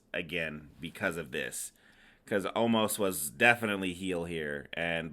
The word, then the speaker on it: Omos: Anyways, we got Bobby Lashley versus Omos. Or as AJ Styles says, Omaz.